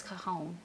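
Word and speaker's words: cajón: It's spelled Cajun, but it's cajon. It's just like a... Oh, it's spelled like Cajun. Mm-hmm. Oh. But it's called like cajon. Cajon food. But it's that J takes an H.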